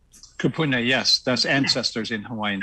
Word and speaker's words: kupuna: over 20 years ago his how do you pronounce this kupuna kupuna yes that's ancestors in hawaii ancestors spoke to